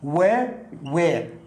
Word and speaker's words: Where: لا يعرف أنه مثلا Where أين كنت؟ هذا لا ينطق الإتش فتنطق يعني الدبليو الوير كأنها وير.